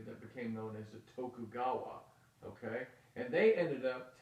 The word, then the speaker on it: Tokugawa: the uh the Tokugawa it's how they say it to cou GA wad Tokugawa the Tokugawa ruled from